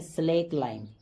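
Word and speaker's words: slaked lime: Name है स्लेक लाइम, D silent है यहां पे, इसको ऐसे ही पढ़ेंगे स्लेक लाइम।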